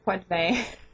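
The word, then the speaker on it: Poitevin: her name many times it is pronounced in French I was right in wanting to do so so her name is Linda PVE and yes it was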